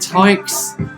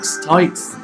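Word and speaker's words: Tieks: Right, excuse pronunciation, is it Tykes? T-I-E-K-S, Tykes, featuring Dan Harkner and Sunshine.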